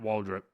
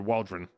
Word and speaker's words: Waldron: And then Michael King and Matt Waldrop. Or Waldron.